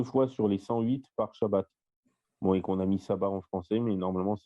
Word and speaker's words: Shabbat: Sauf que là, il se prononce Shin, donc on devrait dire Shabbat au lieu de Sabbat.